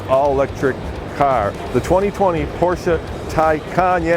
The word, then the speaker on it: Taycan: porsche's very first all-electric car the 2020 porsche tycoon yeah it's spelled tai can but pronounced tycon turbo s and in this video we're going